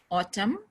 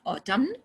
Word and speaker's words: autumn: so letter w n autumn not autumn season column condemn him and damn this n sound is not pronounced okay if it comes after m at the end this is a rule